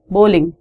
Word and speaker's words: bowling: the word is bowling it's o sound in bowling people pronounce it wrong people say bowling it's not balling it's bowling so in bowling you